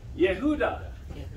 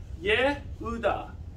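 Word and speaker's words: יהודה: Judah. Okay, how would the ancient Judeans have said it? Judah. Oh my gosh. Yehuda. Because the J or the Y is a Ye. Yehuda.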